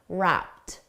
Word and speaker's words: wrapped: The ED is pronounced as a soft T, wrapped.